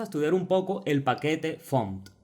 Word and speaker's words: fmt: No sé por qué le llaman font, pero debe ser una convención a la que llegó la comunidad por las letras FMT que forman el nombre y dijeron, vamos a pronunciarlo font.